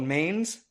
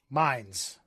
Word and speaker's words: Mainz: You said you were in a town called Mainz? Mainz. Okay, M-A-I-N-Z, yeah. M-A-I, okay. So not pronounced how a trashy American would.